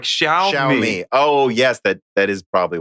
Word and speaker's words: Xiaomi: And he goes, but it's basically pronounced as Xiao with a flat tone and me.